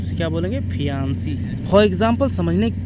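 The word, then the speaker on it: fiancée: तो उसे क्या बोलेंगे, फियांसी। फॉर एग्जाम्पल समझने के लिए, रवि की शादी रानी से हो जाती है तो रवि को रानी बोलेगी फियांसे, सिंगल ई के साथ, प्रोनाउंसिएशन में कोई अंतर नहीं है।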